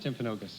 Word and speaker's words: Timpanogos: How do you pronounce it? Timpanogos.